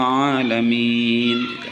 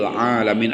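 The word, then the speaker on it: العالمين: Rabbil alamin. Al-alamin dalam qamariyah sama dijelaskan bacanya ini sifatnya rikhwah.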